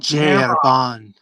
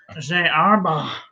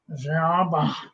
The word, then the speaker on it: Herbin: Oh, Gerban. Gerban, because it's French, and I hate the French. Arba. You're not supposed to pronounce the N. Arba. Or the H.